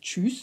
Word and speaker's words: Tschüss: Und es heißt Tschüss und nicht Tschüss. Das Tsch geht wie das englische Tsch, T-S-H, wie bei einer Dampflok. Und das Ü ist so ähnlich wie das Ui in Juice.